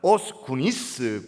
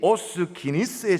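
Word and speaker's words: Os Guinness: 증명시켜내 보이는 변증가로 유명한 오스구니스 구니스로 발음하기도 기니스라고 발음하기도 하는데이 오스기니스에 져서 제 3의 종족이란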